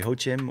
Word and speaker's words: Joachim: Joachim. It's Joachim. Okay, for people who are wondering, some people say Hochim or Joachim or whatever. It's all fine with me.